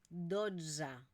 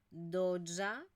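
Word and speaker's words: dotze: que por lo tanto no la pronunciamos como una e sino que es esta mezcla entre una e y una a onza doza 1za cza 15 seza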